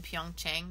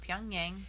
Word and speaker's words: Pyeongchang: going to be in Pyeongchang, not Pyongyang, Pyeongchang. Pyeongchang is in South Korea. Pyongyang is the capital of North Korea. Yeah, like just one syllable.